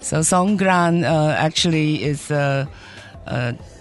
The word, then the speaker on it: Songkran: it's it's actually called San yeah it's a g not a k San interesting right so s Gran uh actually is a